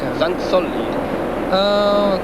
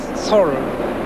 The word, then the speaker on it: Sang-chol: Sang-chol is correct your name, I think. Sang-chol. Not Sol. Is Sol. Korean pronunciation is Chol is correct.